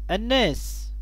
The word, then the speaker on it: الناس: الناس بها ألف ولام، تبدأ بالألف واللام، ولكنها لا تنطق، اللام لا تنطق.